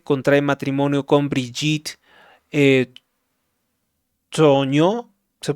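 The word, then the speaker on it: Trogneux: Año 2007 contrae matrimonio con Brigit eh Toño se pronuncia así, profesora de francés que tiene 25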